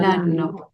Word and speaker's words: l'anno: Lano. Yo, por ejemplo, quiero decir, el año pasado se dice l'anno L'anno scorso. scorso. L'anno ¿Lano qué?